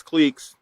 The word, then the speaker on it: cliques: stereotyping and clicks or proper pronunciation is cliques i'll call it clicks just for uh you